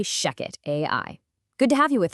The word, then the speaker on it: ShechetAI: And just so you know, that's spelled ch, but we say shecket AI.